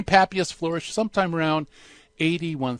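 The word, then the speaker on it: Papias: as Pappy as' and sometimes I hear it pronounced pay pious but I prefer Pappy's say Pappy us flourish sometime around eighty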